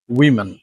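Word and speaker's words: women: ওম্যান that's correct but plural form is উইন উইমেন উইমেন okay number eight education not education যদিও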